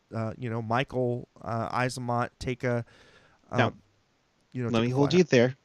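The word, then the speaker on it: Eyssimont: you so so Kevin what's how do you pronounce it it's Mikey AC monk thank you Kevin appreciate it the the t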